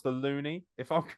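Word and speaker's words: loonie: which I believe is pronounced the loony, if I'm correct.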